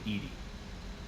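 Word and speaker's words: EDI: why are your name ed ed is the phonetic pronunciation of Ed I that is an acronym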